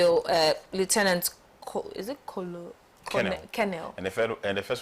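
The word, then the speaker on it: colonel: pom promoted to full it's kenel it's not colonal no but written colonal yes that's how it's spelled kenel yeah to full kennel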